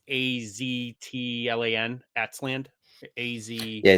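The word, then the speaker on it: Aztlán: So in Mexico, that TL is a tla sound. Yeah. So it's Tlaloc. So it's like Laloc, even though you pronounce the T sound. So what's Az at Az? So don't bother about the T. So it'd be Aslan. it's Aslan. Yeah. So it's like think like Aslan the lion.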